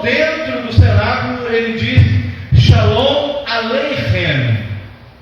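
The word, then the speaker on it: שלום: Então, shalom, então a gente pronuncia um M, bem fraquinho, shalom, shalom.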